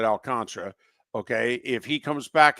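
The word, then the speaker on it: Alcantara: my pitching you know if alcantra or alcanta I pronounce it alcantra okay if he comes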